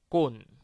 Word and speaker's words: cône: I don't know if you see the difference between the first and the second one. The first one was cône, and the second one, which had two N's, was con.